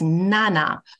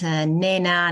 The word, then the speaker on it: Nana: saying my name correctly my name is Nana not Nena not Nana and even